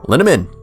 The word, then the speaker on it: Linneman: After the break, I'm interviewing the one and only Mike Linneman. It rhymes with cinnamon.